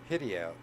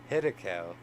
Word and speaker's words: Hiddekel: of the great river, which is Sedekai, or Hidiel, excuse me for the bad mispronunciation there, Hiddekel, then I lifted up my eyes, and looked,